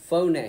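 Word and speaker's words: φωνή: word uh uh voice in the Greek is phon everybody say phon and it's spelled with English letters as p h o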